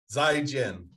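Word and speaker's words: 再见: in mandarin soy jim zaigen zai is it zi i if you were to try and just spell it in english yeah it'd be zi and then j-i-a-n probably as close as you can i jam zygem okay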